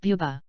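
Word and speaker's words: Bwbach: 3341, pronounced buba.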